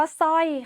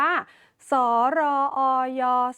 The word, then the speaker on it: สร้อย: เรา จะ อ่าน ว่า ส ร อ ย สอย ไม่ โท สร้อย ไม่ อ่าน ออก เสียง ร เรือ ค่ะ ถึง จะ นำ มา ควบ ก็ ตาม ที นะ คะ เพราะ ว่า เป็น คำ